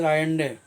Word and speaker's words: Allende: Salvador Allende, Salvador Allende, Allende, Allende, but it is pronounced as Allende.